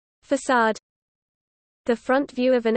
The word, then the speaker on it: façade: Facade. The front view of an edifice from the Italian facciata, or face, a fake persona, as in putting on a facade. The C is pronounced like an S.